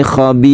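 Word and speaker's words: خبير: Kemudian karena ro ini sebelumnya ada kasroh, maka ro ini dibaca tipis, membacanya tidak boleh tebal. Khabir, tipis itu artinya bibir kita dikebawahkan. Khabir.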